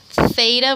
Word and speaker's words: theta: how you pronounce that theta with a th is going to be